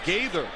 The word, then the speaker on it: Gaither: Gaither, good block on the outside.